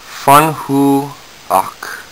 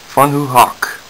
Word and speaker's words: Van Gogh: Scottish word Lo okay okay so it says funu Haw funu Hawk um I'm assuming that's how you say it